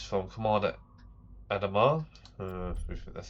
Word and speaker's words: Adama: It's from Commander Adamar. That's how you pronounce it.